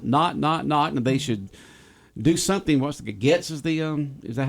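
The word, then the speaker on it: Gaetz: Getz is the is that how you pronounce the guy's name? Gates.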